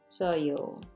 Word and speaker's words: 맛있었어요: 맛있었어요. It's really hard to pronounce. So many sound shifting, right? 맛있었어요. So maybe practice.